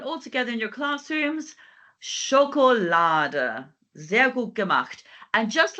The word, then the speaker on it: Schokolade: Genau, so this time we have our A sound, O sound, and then sh. Okay, and this time we have Schokolade.